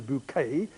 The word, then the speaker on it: Bucket: snob Mrs H synth bucket which she pronounces bouquet in the BBC series